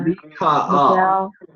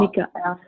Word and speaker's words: Michael: Spirits, And the Malachim, Michael, how do you say that one? How are you guys pronouncing that one? I'm not saying Michael. Michael or Mikael. Mikael? Mikael.